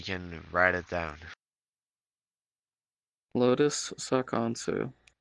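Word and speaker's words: Sa'khonsu: Lotus Sakansu. Spell that last one. S-A, an apostrophe, K-H-O-N-S-U. Sakonshu.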